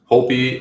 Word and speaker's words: Holtby: Is it Holtby? Holtby is the correct pronunciation, and he's definitely in play.